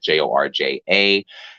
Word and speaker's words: Jorja: Georgia spelled like Georgia Smith, Jorja.